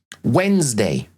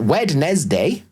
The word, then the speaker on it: Wednesday: Look at things like Wednesday. It's not Wednesday. It's Wednesday. We kind of put the syllables that are not pronounced correctly.